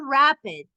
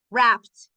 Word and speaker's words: wrapped: No es rapid, no es rapid, wrapped, wrapped.